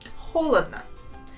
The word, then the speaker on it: холодно: Notice how we pronounce this word. There are 3 letters O, and only the first one I pronounce as a real O sound. The other 2 letters I pronounce them as A.